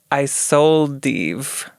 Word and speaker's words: Isolde: Isolde is her name. It's spelled I sold Eve, but one word.